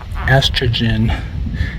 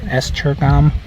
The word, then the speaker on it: Esztergom: So we are going to this town here, Esztergom. No, it's Esztergom. Another word we need to learn how to pronounce.